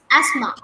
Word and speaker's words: asthma: Asthma. Asthma. Asthma. Asthma. TH is silent.